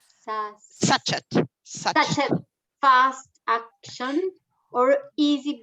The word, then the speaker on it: sachet: 500 grams strong bread flour, 1 teaspoon salt, and 75 grams custard sugar, and 7 grams sachet. How do you say? Sachet.